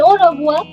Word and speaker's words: au revoir: But in au revoir, the R is not pronounced. Just like English, I sometimes call French also a funny language. But I mind you, it's only in au revoir. Everywhere else, the R is pronounced.